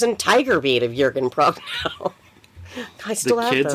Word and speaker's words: Prochnow: You pronounce the CH.